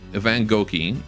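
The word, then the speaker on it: Van Gogh: mean when I say Van Go and everyone else also says that. I I know how to actually pronounce his name. Van Go Van Goi. Van Goi.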